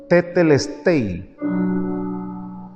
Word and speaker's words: tetelestai: Y la palabra consumado es, en el griego se pronuncia tetelestai.